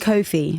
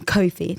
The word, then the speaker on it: Cofie: No, a lot of people, they say coffee, and I'm like forever correcting them. Cofie.